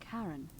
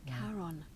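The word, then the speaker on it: Charon: it's just as you described it only your pronunciation is a little off the name you heard wasn't Karen it was c h a r o n as karon the Fairman of the Dead karon who in exchange for the right coin helps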